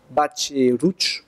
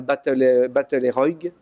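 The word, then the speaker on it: Batlle i Roig: Et qui donne sur le parc au centre de Batch et Rouch, pour prononcer à peu près comme les Catalans. Vous dites en général Battle et Roig, mais c'est pas comme ça que ça se prononce.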